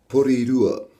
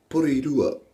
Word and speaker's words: Porirua: But I pronounce, because you already say a word that helps you pronounce it, which is called tara. Alright, so if you remember that, tara.